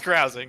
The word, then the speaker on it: carousing: You car I'm going keep saying caruse. You caruse the town. Damn it. Um yeah, I was thinking it was you're you're carusing. You're you're cruising around. So definitely pronounce carousing.